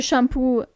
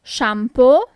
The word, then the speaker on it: shampoo: The shampoo is shampoo. Shampoo. So basically you just have to change the pronunciation of the last two letters. It's not uh anymore but it's just o shampoo.